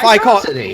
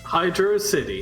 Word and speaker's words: Hydrocity: Hydrocity. I call it Hydrocity. Hydrocity. Hydro City.